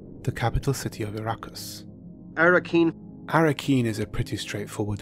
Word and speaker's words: Arrakeen: Many would pronounce it Arrakis, but Herbert pronounces it Arrakis. Arrakis. Arrakeen. The capital city of Arrakis. Arrakeen.